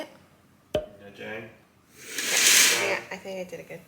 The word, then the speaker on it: Nha Trang: Nha Trang.